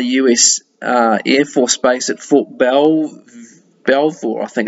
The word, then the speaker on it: Fort Belvoir: submitted from the US Air Force Base at Fort Belvoir, I think it's pronounced, back then.